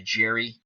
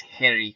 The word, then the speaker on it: Gerrie: again when Harry cozia came to America he changed his name to Jerry to make it more easy to pronounce but his true pronounced pronunciation of the name is Harry kutzia his record 33 wins